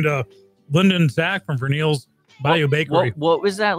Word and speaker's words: Vernele's: So, how do you pronounce the cupcake place name? Vernele.